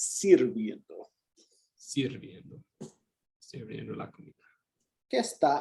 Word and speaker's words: sirviendo: Él está sirviendo. And this one's a little irregular. It's sirviendo.